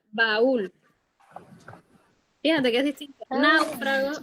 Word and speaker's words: baúl: Para marcar que no se va a pronunciar como diptongo, sino que se van a dividir en dos sílabas. Entonces sería baúl.